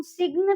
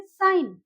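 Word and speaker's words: sign: अब साइन है, वहां पे हम सिग्न तो नहीं बोलेंगे। ओके, सिग्न नहीं बोलेंगे हम यहाँ पे। तो ये यहाँ पे जी जो है वो साइलेंट हो गया, तो हम उसको बोलेंगे साइन।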